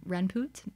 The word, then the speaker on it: Renput: So yeah, I would pronounce that Renput, just again, modern convenience for years.